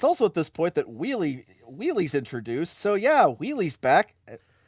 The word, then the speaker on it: Wheelie: You said Willie instead of Wheelie.